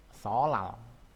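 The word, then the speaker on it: 설날: Ini solnal. Solnal dibacanya solal.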